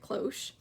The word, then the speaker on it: cloche: so we googled it martha googled how to pronounce that word so now we all know how to say it cloche um and of course it's for covering cakes